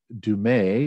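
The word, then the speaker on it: Du Mez: i don't know and dumay is how you say her name uh does a phenomenal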